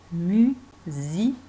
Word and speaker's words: musicien: Lui, c'est un musicien. Tu te rappelles de l'écriture du ien? Très bizarre, puisque ça s'écrit ian et ça se dit ien.